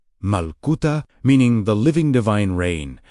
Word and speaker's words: Malkuta: Because Malkuta, pronounced Malkuta, meaning the living divine reign, describes an active reality rather than a distant destination.